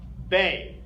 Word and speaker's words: B: In English, we say B. In German, it's pronounced Bay. Bay.